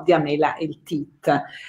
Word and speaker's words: Diamela Eltit: Mi permetto, come sempre fanno i professori, di puntualizzare la pronuncia. In questo caso, appunto, in spagnolo noi pronunciamo Diamela Eltit.